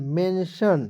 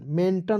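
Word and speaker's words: mention: एन टी आई एन मेंशन मेंटन नहीं पढ़ेंगे मेंशन टी को साइलेंट यहां पर कर लीजिएगा ठीक है मेंशन उसके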